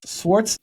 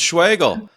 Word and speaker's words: Schwagerl: go for it h Schwarz Schwarz schwart oh my goodness that's way off Marty no it's schwagel schwagel we practiced this yeah yeah yeah the r is silent schwagel sorry I put you